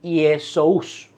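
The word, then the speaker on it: Ἰησοῦς: Y la transliteración, ¿verdad?, de Jesús vino porque en griego estas dos palabras se escribían así y se pronunciaban Iesous.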